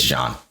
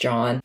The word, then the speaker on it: Jean: john or jean it's john okay it's spelled like gene but is pronounced john it's french yeah and just like